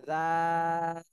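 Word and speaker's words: ذال: এটা তিন আলিফ টান দিতে হবে একই জায়গা থেকে জিহ্বার আগা সামনের উপরের দুই দাঁতের আগার সাথে লাগায় একই জায়গা থেকে উচ্চারণ হবে। এটাও নরম হরফ, নরম ভাবে উচ্চারণ করতে হবে।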